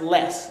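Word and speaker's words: loess: what's known as less it's spelled l-o-e-s-s but it's pronounced less like i don't have more i have less what les is talking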